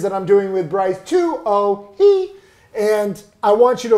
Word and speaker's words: Tuohey: Tuohey. No! Although everyone calls me Tuohey though. Yeah, fair, what is it? Tuohey. Like Ratatouille. Tuohey, okay?